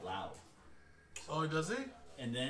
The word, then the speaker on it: Lowe: He's, he pronounces it Lau.